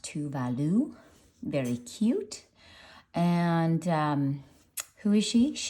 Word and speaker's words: Tove Lo: while ago to do her name is pronounced to Value very cute and um